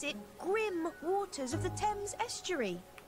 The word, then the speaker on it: Thames: Thames. Ooh, I've been pronouncing it wrong.